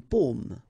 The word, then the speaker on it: paume: Une paume. Une pomme. Okay, so you can see that I pronounce them a little bit, well, a little